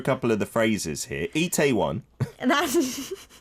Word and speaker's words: Itaewon: Good Itaewon, attitude.